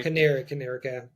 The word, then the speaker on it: Canary: Canary. Stress on the second syllable.